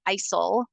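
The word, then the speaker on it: ICEL: um it's called the isil method but the L is silent so the L is there but the L is silent when we're looking at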